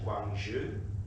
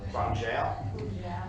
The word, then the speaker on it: Guangzhou: There is a friendship agreement in China with Councillor Jennings, you might correct my pronunciation, Guangzhou. Guangzhou.